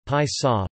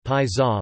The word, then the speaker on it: Pisa: Pisa, Italian pronunciation, Pisa, Pisa, listen, is a city in the Tuscany region